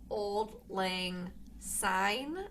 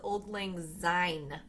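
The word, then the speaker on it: Auld Lang Syne: pet peeve is when when Yanks that's us mispronounce Old Lang sign as Old Lang Z yeah it says it's a bloody s not a zed there's no Zed in Old Ling sign so that's your other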